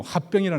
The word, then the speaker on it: 화병: 인터넷에 여러분 그렇게 치보면요, 화병이라 나왔어요. 한국 사람들이 등재한 변명이다 그렇게 나와 있습니다. 그러니까 이게 장모가 지금 열병이라 했지만은 실제로 뭐라고요? 문맥적으로 보면 화병이야, 화병.